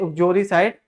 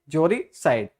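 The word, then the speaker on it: uxoricide: इसमें you silent रहता है, इसे ऑक्सियोरिसाइड नहीं, क्या पढ़ते हैं? जोरिसाइड।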